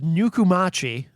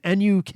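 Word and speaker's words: Nukumachi: of this artist is nuku machi i assume i'm saying that correctly i'll spell it for you if you want to look them up online n-u-k-u-m-a-c-h-i really just kind of how it sounds uh nuku machi and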